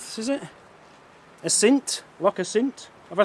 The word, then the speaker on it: Assynt: Loch Assynt? Have I said that right? Assynt. I said it 3 times. It's still making me sound as if I'm saying it wrong. I'm not. Loch Assynt down there.